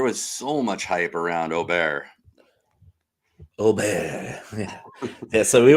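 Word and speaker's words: Åberg: use that letter but all it does is indicate how the letter is pronounced with the little letter over the top the little o so in with Swedish yeah it's like how are we supposed to know that it's not Aber Berg like we're just English-speaking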